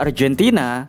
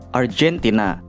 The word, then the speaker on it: Argentina: Negara Argentina penulisannya tetap tapi dalam bahasa Inggris G-nya dibaca seperti J. Argentina.